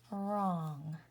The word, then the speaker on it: wrong: Now, I'm going to draw a little ghost around the W because the W is silent.